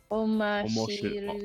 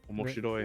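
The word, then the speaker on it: 面白い: What's the first syllable before I read it? Oh, never mind. Got it. Okay, what is it? Omashiru. Omoshiroi. Omoshiroi.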